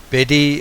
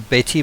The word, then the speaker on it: Bette: small little fragment, is Betty Marcoux. Her name is spelt B-E-T-T-E. I would be inclined to say Bet. I don't know if that is probably wrong, but again, it's one of those things.